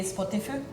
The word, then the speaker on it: Spotify: be actually pronounced Ines if we pronounce it in finish way it would be spotifu but no one says that we all say Spotify Spotify is very yeah